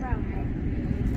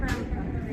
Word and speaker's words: Ramapo: The town of Ramapo. I'm sorry? This is the town of Ramapo.